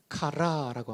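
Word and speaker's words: χαρά: 헬라어로는 카라라고 합니다. 젊은 분들은 걸그룹 카라를 떠올리겠지만 걸그룹 카라는 K-A-R-A고 희락의 카라는 C-H 발음이라는 것을 기억하시면 좋겠습니다.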